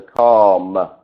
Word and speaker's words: calm: um was mentioned so make sure we pronounce or emphasize the M sound so calm the M sound is important so calm and I've picked up